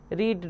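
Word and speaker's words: read: Hurt hurt hurt late late late put पुट पुट रीड रेड रेड। इसे पढ़ते रेड रेड है बट इसे लिखते सेम स्पेलिंग है।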